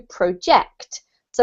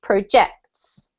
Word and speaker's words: project: it's a noun but because it's a verb we have to emphasize the second syllable okay um okay the